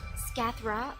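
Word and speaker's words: Scáthach: friend oh so is her name is pronounced skathra hurrah they'll be here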